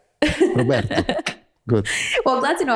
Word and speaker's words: Roberto: longer than it normally does so try to pronounce my name Roberto perfect okay no I've practiced perfect perfect because nor normally it's Roberto right Roberto good well glad to know I'm not the